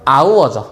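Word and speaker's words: hour: 하나 더 해 볼게요 이런게 있죠 뭐죠 이거 아우어 시간이라는 뜻에 아우어 철자는 뭐야 자음이 근데 발음은 어때 얘는가 소리가 안 나고 그냥 아우지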